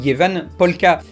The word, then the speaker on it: Ievan polkka: A noter qu'en finlandais, Eve se prononce quelque chose comme Jeva et que la chanson est censée s'appeler Jevan Polka.